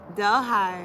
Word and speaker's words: Delhi: Delhi.